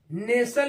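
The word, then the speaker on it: nestle: हो गया ऐसे ही एन एस टी एल नेसल इसको पढ़ते हैं य भी टी क्या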